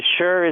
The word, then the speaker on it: Schur: Honestly, I don't even know. Most people say Schur. Is it Schur? It's Schur is fine, I honestly, it changes every time I say it. I say Mike Schur sometimes.